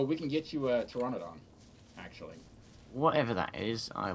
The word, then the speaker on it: Pteranodon: Pteranodon. It's P-T-E... Hold on, let me look it up. P-T? Yeah. The P is silent.